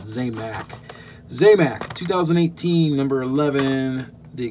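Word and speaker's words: Zamac: Or Zamax, or however you want to pronounce it. I pronounce it Zamax.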